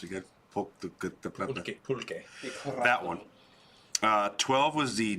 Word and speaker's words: pulque: How do you pronounce it again? Pulque.